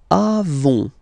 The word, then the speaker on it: avons: Then nous avons. Final S, not pronounced.